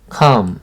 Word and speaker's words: calm: 그 다음 calm, 조용한. 이 L이 묵음입니다. 칼럼 아니에요. 소리가 전혀 안 납니다.